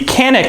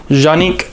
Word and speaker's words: Canik: it is part of the canic line or Janik line I don't know if I said that right or not but that's just um how they say it over in Turkey where this firearm is made